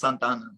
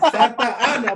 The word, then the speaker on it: Santa Ana: But Beto, it's Santana. Oh, there you go. I'm telling you, put some respect on it, okay? Oh, got him. Santa Ana, bro. Say it right. Santa Ana.